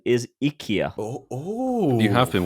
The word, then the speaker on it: IKEA: I do need to just interject here correct pronunciation is Ikea oh oh you have been watching the adverts